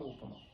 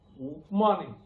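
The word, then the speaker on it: उपमा: So we always use some upama. So this fellow is laughing. Upma, upama. So upama. Okay. So if you read like Hindi, there will be a problem.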